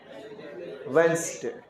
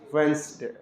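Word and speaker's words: Wednesday: व सुधार के नहीं डब्लू ई डी एन ई एस डी ए वा क्या पढ़ेंगे इसको वेनसडे वेनसडे ठीक है इसको क्या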